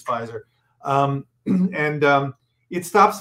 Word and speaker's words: Pfizer: fight here okay i'm just telling you it's fizer um and um it stops viral replication so